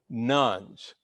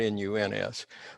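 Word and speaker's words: nones: rise of the so-called nuns now that's spelled n-o-n-e-s not n-u-n-s but they're called the nuns those who claim no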